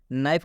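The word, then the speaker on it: knife: आया है जब भी के के बाद एन आता है तो इस के का उच्चारण नहीं करना है बात समझ में आ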